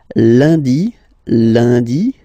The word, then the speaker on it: lundi: Lundi, lundi. Okay, remember, UN is pronounced like un. Lundi, lundi, lundi.